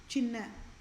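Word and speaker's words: சின்ன: China is how we all pronounce it in English, right? Versus it is a Tamil word. This is how it gets pronounced as Chinna. Chinna. Chinna means small.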